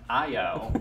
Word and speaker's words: Io: So speaking of songwriting, you have a new EP out, and it's not, it may be two letters, but it's pronounced Io, as in a name.